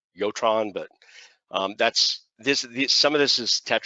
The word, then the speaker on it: Jotron: I think it's pronounced with a Y, Jotron, but that's some of this is Tetra and Dimitra I'm not as familiar with.